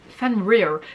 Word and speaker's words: Fenrir: and the next symbol is fenrir fan rear this one is a hard one to pronounce like the other ones were way longer but fan rear fenrir at the rare is just weird so the fan wolf